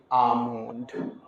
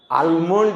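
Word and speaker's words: almond: यू एल D could A एल एम ओ एन डी एल को नहीं पढ़ेंगे आमंड आलमंड नहीं पढ़ना हम लोग को आमंड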